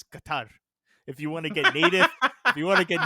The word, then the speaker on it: Qatar: the Qatar Scandal came up also Joe is pronounced Qatar it's pronounced Qatar Joe again no no no no no the world the World Cup is coming up it's Qatar if you want to get native if you